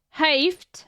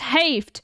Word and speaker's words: heeft: So he Hij heeft. This is an insane word. This is an insane word. Bro, so freely, this is pronounced heeft, not heeft.